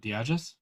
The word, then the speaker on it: Diagis: Oh fuck, how do you say your last name? Diagis? Yeah, there you go. Okay, Mrs. Diagis, if you're listening right now, e-transfer your son $100.